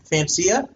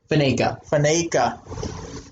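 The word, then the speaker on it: Faneca: Fancia? What's that? How do you say that name? Alan Fancia? Faneka.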